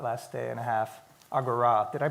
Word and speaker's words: Agora: a lot about last day and a half Agora did I pronounce it right absolutely because we've been saying